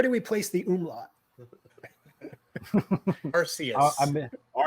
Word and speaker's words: Arceus: Arceus. Arceus. You heard it here first, folks. We've been putting the wrong emphasis on the wrong syllable.